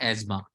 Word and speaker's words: asthma: सो जिसको हम अस्थमा बोलते हैं, वैसे इसकी सही प्रोनाउंसिएशन होती है एज्मा.